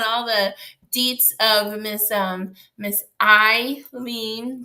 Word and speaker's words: Hailyn: We're catching up on all the deets of Miss Hailyn. That's how you say her name. Thank you, TDK. He spelled it out, Hailyn. So it's Hailyn.